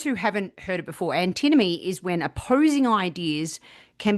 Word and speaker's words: antinomy: Did I pronounce it correctly? I think antinomy is right. I've heard it said antinomy, but let's stick with antinomy.